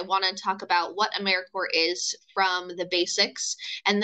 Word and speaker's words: AmeriCorps: is alive and well just spelled with a silent P so think of Apple core or core of the earth now that we have